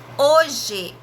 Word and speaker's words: hoje: Hoje, o H na palavra hoje, ele não tem som nenhum.